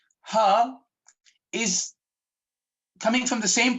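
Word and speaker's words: ح: So for us to pronounce Ha, fill your chest with air, inhale a little more, and then exhale and say Ha. Ha.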